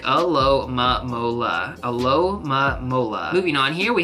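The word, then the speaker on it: Alomomola: At 594, we have a pretty difficult Pokemon to pronounce, at least for me. This Pokemon is going to sound like Alomamola.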